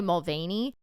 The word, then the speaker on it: Mulvaney: It's Dylan, I want to say Mulvaney. And if I'm not pronouncing that correctly, let me know in the comments.